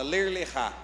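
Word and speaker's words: Lech Lecha: Mas é assim que se escreve, só que a pronúncia, ela é diferente. Ler lechá, fala ler lechá.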